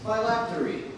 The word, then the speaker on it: phylactery: Miss Park, your word is phylactery. Phylactery. Am I pronouncing that correctly?